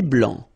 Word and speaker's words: blanc: Un thé blanc. Final C not pronounced.